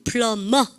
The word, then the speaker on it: plumber: 비발음 다 무음입니다. 아시죠? 근데 그래서 dumb, come, tum, plumber 아시죠?